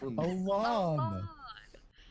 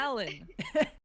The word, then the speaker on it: Alon: Alon. It's not Alan.